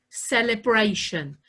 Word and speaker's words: celebration: Direction has that shun sound, but it's spelt with a T-I-O-N. The same with celebration.